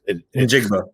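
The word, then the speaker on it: Njigba: Jackson Smith and Jigba? In Jigba? In Jigba, yeah.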